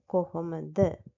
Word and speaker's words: කොහොමද: in our teath කොහොමඩ so the correctect one is the first one කොහොමද so in my other